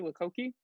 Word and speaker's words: Lochocki: of the night, Lochocki. Okay, yeah, that's how you say it in English, in American English. But how my names are pronounced entirely different than how they're spelled.